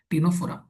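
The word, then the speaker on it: Ctenophora: टीनोफोरा ही silent है। टीनोफोरा।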